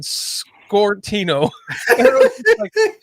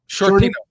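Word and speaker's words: Sciortino: It's simple. Shorty, right? Yeah. Shortino. Shortino. Just put Shortino.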